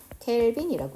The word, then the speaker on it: 켈빈: 그러면 절대 온도의 단위는 K라고 썼잖아. 뭐라고 읽어? 켈빈이라고 읽어. 그러면 영하 273도를 0으로 시작하는 이 절대 온도는 0K, 5K가 아니라 0 켈빈이라고 읽어야 되는 거지.